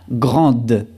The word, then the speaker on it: grande: Y forma femenina, grande. Grande. Al igual que frío, aquí pronunciamos la D final cuando es femenino y no pronunciamos la D final cuando es masculino.